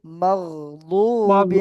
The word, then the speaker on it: مغضوب: তো জি এখন জি দয়াতের উচ্চারণটা কিন্তু দদের মতোই করতে হবে মাগদু মাগদুবি মাগদুব আলাইহিম মাগদুব ওয়ালাদ-দাল্লিন